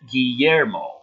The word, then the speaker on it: Guillermo: John Washburn also is mentioning it's pronounced Guillermo.